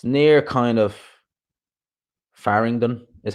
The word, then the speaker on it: Farringdon: It's near kind of Farringdon is how you pronounce it.